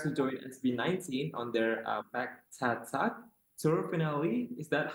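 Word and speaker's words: Pagtatag: as he prepares to join SB19 on their Back Tat tour finale, is that how I Yep.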